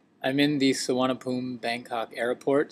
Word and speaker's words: Suvarnabhumi: I'm in the Suwanapoom, Bangkok airport. Suwanapoom is actually spelt, if you look at it phonetically, Suwanapumi, but you don't pronounce the E at the end.